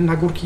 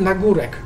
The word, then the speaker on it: Nagórek: to powiedzieć, deklinacja nazwy na górki Jabłoń. Teoretycznie poprawnie powinno się wymawiać, tak mi się wydaje, powinno się wymawiać z Nagórek. Natomiast jakimś sposobem, jakimś cudem w naszej rodzinie zawsze mówiło się z Nagórk.